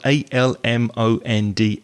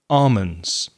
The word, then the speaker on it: almonds: almonds which is spelt a-l-m-o-n-d-s some people pronounce the l and some people don't so that's a question